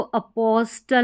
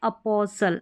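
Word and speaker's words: apostle: यानी एस टी ई एन में जो टी है यह साइलेंट रहेगा। फिर नेक्स्ट देखें। यहां पर है इसको अपॉस्टल नहीं अपोसल।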